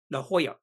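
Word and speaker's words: La Jolla: there's a little suburb called la la Hoya so it spelled l a j o l i knew nothing about Spanish and I was actually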